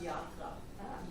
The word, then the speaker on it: Yatra: Okay, so it's Oh, no, actually, in India it's pronounced Yatra. But we spell it Y-A-T-R-A.